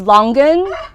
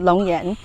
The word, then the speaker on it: longan: this this is um the roman nice way is longan l-o-n-g-a-n but i have a hard-nosed hard time pronouncing it that way because we pronounce it lon yen um so it's long yen it's it's very juicy